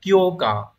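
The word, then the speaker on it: 強化: Từ đầu tiên đọc là kyo cờ.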